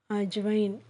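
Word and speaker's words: अजवाइन: pronounce பண்றதுனா ஏ ஜே ஏ விஏ ஐ என் அஜ்வைன் தமிழ்ல ஓமம் okay friends நம்ம நெக்ஸ்ட் கிளாஸ்ல நம்ம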